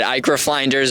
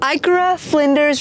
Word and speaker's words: Ikara-Flinders: here we are at iicr finders range National Park uh you said it wrong IA flenders iura flenders Rangers National Park and today we're